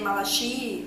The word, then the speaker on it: Malachi: Eu tô aqui usando uma pronúncia mais americana, mas se você tá lendo e você é brasileiro, provavelmente você vai ler Malachi ou Malachi Constante e tá tudo bem.